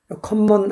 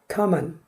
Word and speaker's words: common: common 아닙니다. common. 이거 겹자음은 하나 자음으로 발음합니다.